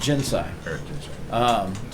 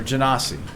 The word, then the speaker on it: Genasi: They're an earth Jinsai. Or Genasi. Depends on how you wish to do the pronunciation.